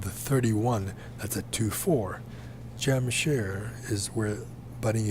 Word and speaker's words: Jamshar: coordinates of jamshar India I spell it at j-a-m-s-h-a-r Jamshed because that's how you pronounce it in Punjabi Jam share the s-h-a-r it's not gem sure jamshare s-h-a-r and that's the way it should be spelled in English Jam share jamshar Jam